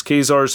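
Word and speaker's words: Ka-Zar: I just did recently read X-Men number 10, which is Kazar's first appearance, and it is pronounced Kazar.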